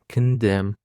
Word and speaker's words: condemn: Condemn. It is of two syllables and the stress is on the second syllable.